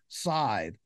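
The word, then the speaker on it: scythe: all right so it's s Cy T he pronounced sidee and we you know we don't we don't use the term very much anymore because well nobody very few people use a sidee but um now now today we tend to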